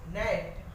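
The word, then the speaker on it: gnat: फिर नेट, हम इसे क्या पढ़ते हैं, GNET को नेट।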